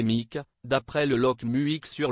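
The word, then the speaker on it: Muick: mondiale et le corguillé mu prononcé mik d'après le loch musique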